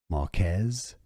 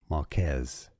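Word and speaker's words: Marques: wait hold on so he pronounces it himself as Marquez Marquez okay it looks like it's uh Marcus okay Marcus but he pronounces it as Marquez the Str okay well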